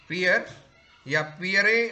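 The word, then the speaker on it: Pierre: हैं, इनका नाम है पियरे अर्नेस्ट वाइस। ठीक, पियरे हम तो अगर हिंदी में बोले तो, या पियर बोलते हैं, इनका प्रोनाउंसिएशन पियर अर्नेस्ट वाइस ने क्या किया?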